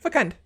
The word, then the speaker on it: fecund: So yeah, you pronounce the C as a hard C.